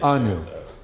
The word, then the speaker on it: ANU: ANU, right. ANU. Rhymes with GNU.